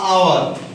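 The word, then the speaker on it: hour: Next, number 3, উই স্যাট ইন the lawn for আ আওয়ার। আমরা একটা লনে বসেছিলাম 1 ঘন্টার জন্য। ভালো করে দেখ এই জায়গায় এল, আওয়ার। আওয়ারের ক্ষেত্রে উচ্চারণটা কিন্তু এইচটা সাইলেন্ট, সাউন্ডটা হচ্ছে ভায়েল সাউন্ড।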